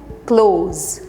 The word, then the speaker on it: close: एक है क्लोज, यानी कि क्लोज द डोर, हम बोलते हैं ना दरवाज़ा बंद करो, क्लोज। कैसे? हमने इज़ेड का उच्चारण किया, क्लोज। और दूसरा चीज़ है, वो बहुत करीब आया लेकिन वो हार गया, it was too close, close, यानी कि S का ही प्रोनाउंसिएशन यहाँ पे क्लोज। याद रखिएगा, स्पेलिंग एकदम सेम